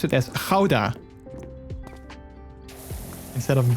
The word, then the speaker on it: Gouda: dutch you would pronounce it as you would pronounce it as houda instead of gouda with a soft g instead of you know